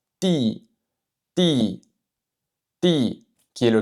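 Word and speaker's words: 弟: Ici, le D que je prononce, c'est vraiment entre le D et le T français. Je ne dis pas di, di, je dis ti, ti.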